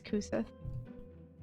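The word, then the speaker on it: Cú Sídhe: His name's Kusith. And he's adorable. This is an Irish name. Huh? It's spelled C-U space S-I-D-H-E.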